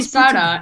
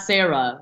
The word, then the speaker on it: Sara: So you call me Sara and not Sarah.